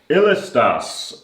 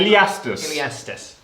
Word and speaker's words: Iliastus: I've probably said that wrong, but How do you say it? Yeah. Iliastus. Yeah, there's an I in there. Yeah, I don't know. I'm dyslexic. Yeah, no, that's fine. No, that's right. Iliastus.